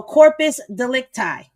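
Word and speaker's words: corpus delicti: So corpus delecti. Okay, that's how we saying it.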